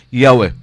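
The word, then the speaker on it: Yahweh: of yahwe wala mawala several early Greek writers of the christian church testify that the name was pronounced yahwe daghan ng mga unang mga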